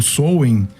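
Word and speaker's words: Samhain: roda do ano esse dia o souen né que eles pronunciam a roda do ano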